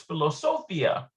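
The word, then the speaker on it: פילוסופיה: that's why you get instead of philosophy in english in hebrew it's philosophia and instead of mathematics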